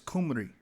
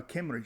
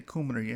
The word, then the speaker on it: Kumri: and also reading that that's exactly how you pronounce Omri in the Assyrian tongue. It's Kumri or Kimri.